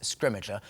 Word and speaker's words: Scrimgeour: ...and we're going with "Scrimgeour."